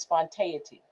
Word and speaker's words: spontaneity: We lose touch with joy and spontaneity, spontaneity.